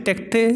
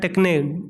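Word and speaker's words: τέχνη: ठीक है, टेक्टे या टेक्ने, दो जो भी है उसके उच्चारण के अनुसार हम क्या कहते हैं, टेक्टे भी कहते हैं और टेक्ने भी कहते हैं।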